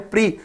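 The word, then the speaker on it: Prix: तो Bahrain grand प्री, देखिए कई स्टूडेंट्स उसको प्रिक्स बोलते हैं, मैं आपको इसका करेक्ट प्रोनाउंसिएशन बता रहा हूं, प्रिक्स नहीं बोलते इसको, प्री बोलते हैं।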